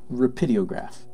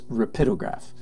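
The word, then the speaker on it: Rapidograph: rapid rapid Oh graph sometimes mispronounced rapidio graph by people that are not very linguistically sophisticated its rapido graph and they're Pitta graphs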